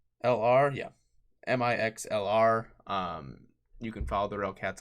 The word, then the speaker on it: Mixlr: It's spelled Mixlr. Yeah, Mixlr.